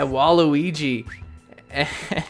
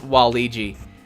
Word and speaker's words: Waluigi: they're like oh yeah waluigi she's like it's not pronounced waluigi it's wall-e gee I thought she was